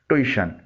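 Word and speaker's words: tuition: इसे आमतौर पर ट्यूशन बोला जाता है। मैं खुद इस लफ्ज़ को एक अरसे तक ट्यूशन पढ़ता और बोलता रहा। आप इसकी स्पेलिंग पर गौर करें। टी के बाद यू और फिर आई आता है। इस तरह उई की आवाज़ निकलती है। सही प्रोनंसिएशन यानी तलफ़ुज़ है ट्यूशन।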